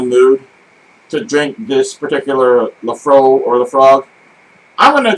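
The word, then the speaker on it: Laphroaig: The infamous Lafrog or Lafro, depending upon whether you're pronouncing it correctly or incorrectly.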